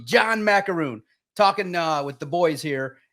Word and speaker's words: Maakaron: And my last name is pronounced Maakaron, like the cookie. John Maakaron.